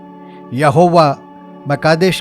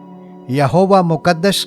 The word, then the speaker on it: यहोवा म'कादेश: आयत आठ को लेंगे इस नाम का उच्चारण यहोवा कादेश यहोवा म कादेश करके किया जाता है इसके नजदीक की भाषा में हम इसका उच्चारण यहोवा मुकद्दस से भी कर सकते हैं यहोवा शब्द का सरल